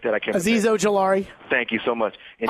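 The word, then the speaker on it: Azeez Ojulari: You have Azizi, I can't pronounce the name, Ajari or something like that. I can't. Aziz Ojolari.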